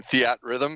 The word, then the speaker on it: Theatrhythm: och Matt is defending Theatrhythm is how you say it the at rhythm either with the rhythm